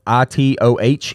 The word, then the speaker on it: Itoh: So it's spelled Itoh, Ito.